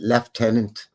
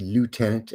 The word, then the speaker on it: lieutenant: In Canada land we pronounce it left tenant like the Brits do. I know in the states it would be lieutenant.